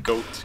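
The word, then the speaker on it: Goht: boss was yeah but I rather pronounce his name goat goat but I used to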